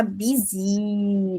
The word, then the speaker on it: busy: E não se esqueça que a gente fala busy, longo. A gente para e toma um café falando esse i. By, busy. E bem forçado mesmo.